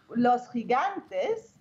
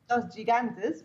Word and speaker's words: Los Gigantes: Whereas Los Gigantes, you have Los Gigantes, which is spelled G-I. Yeah. There you pronounce the G as a, like similar to the J.